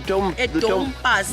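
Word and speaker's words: dompas: So this book right here is, how is it pronounced? The Dom Pass. Dom Pass, a reference book.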